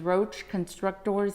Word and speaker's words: Roche Constructors: Yeah, our company name is Roche Constructors, Inc. And I remember it was what my dad wanted to do, because you actually construct, you're a constructor. And that's the way I remember it and how the company got the name.